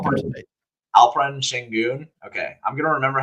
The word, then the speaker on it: Alperen Şengün: Alperen Şengün. Which is close, but not the Shen, right?